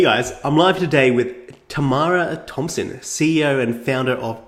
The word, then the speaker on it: Tamara: I always say like people always get my name wrong they're like that tomorrow is it tomorrow I was like Tamara thank director Tamara behind the camera so I'm like Tamara camera but yeah so like